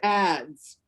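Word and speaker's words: adze: not the worst sketch i've ever made it's pronounced ads so it's like acts but it's ads yeah i can see that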